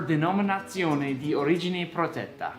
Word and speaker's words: Denominazione di Origine Protetta: This stands for Denominazione di Origine Protetta, which means protected designation of origin. Now, did he pronounce that right, Vincenzo?